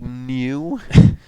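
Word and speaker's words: Neue: The new is spelled like N-E-U. There's E, so like new.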